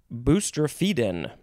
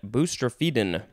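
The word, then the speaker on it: boustrophedon: is a fun one boostrefiden i think that's how it's pronounced p b-o-u-s-t-r-o-p-a e d o n booster feedin this is a noun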